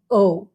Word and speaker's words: au: go together to become o a u okay and it's pronounced like the letter o okay so let me